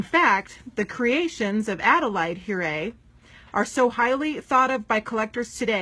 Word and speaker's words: Huret: a little bit about puree dolls so it's pronounced here a and spelled h-u-r-e-t and hurray is best known for being one of the